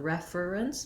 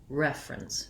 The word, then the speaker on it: reference: sound like an er rather than refer or reference we tend to reduce that down to two syllables so not reference but rather reference reference then this e the